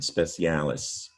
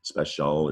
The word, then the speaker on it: special: uh that root but it's not pronounced the way it looks we pronounce it shall special or special depending on